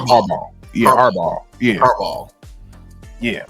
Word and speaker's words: Harbaugh: You see, I think it's the G and the H that's messing with you. Yeah. Just imagine ball. It's Harbaugh. It's like Harbaugh.